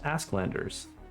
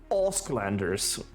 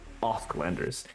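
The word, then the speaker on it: Åsklanders: Asklanders is not pronounced Asklanders. It is pronounced Osklanders, as if the first A was an O. Osklanders.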